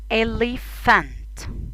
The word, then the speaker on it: elephant: البي اتش بتتنطق ف. ف. elephant.